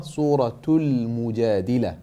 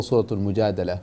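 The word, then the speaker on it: سورة المجادلة: Okay, when you name the surah, Suratul Mujadila, okay, or Suratul Mujadala, both of them are correct, but make sure you pronounce the ta and alif lam, Suratul Mujadala.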